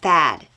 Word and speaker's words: THAAD: United States has a system called Thad Thad spelled with two A's stands for terminal high